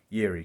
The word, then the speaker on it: Jiří: congrats to yuri and that's how you say his name yiri not jiri so i can't say his last name still but yeri congrats to him he's